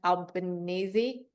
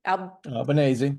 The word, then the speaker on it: Albanese: sanctions on the unapologetically anti-Semitic UN Special Rapporteur for the undermining of Israel, Francesca Albanese. Albanese, Italian.